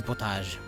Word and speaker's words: potage: It is potage cuz of course it is. It's derived from French so they have to be weird about it.